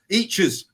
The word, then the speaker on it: Eachus: For me, I think each is 2 syllables Last message was wrong. Eachus.